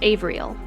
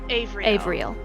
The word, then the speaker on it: Havriel: It's spelled with an H, but it's pronounced Avriel. Avriel.